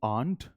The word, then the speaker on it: aren't: या तो आप कह सकते हैं यू आंट, ये सही है। आंट याद है ना, हमने पहले डिस्कस करा था, आंट एज एन आंटी। यू आंट, आर silent है, आप आर हम प्रोनाउंस नहीं करते, तो मेरे पीछे रिपीट कीजिए, यू आंट।